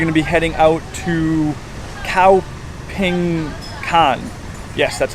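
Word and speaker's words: Khao Phing Kan: and we're actually gonna be heading out to cow ping con yes that's how it's pronounced which is also better known as Jim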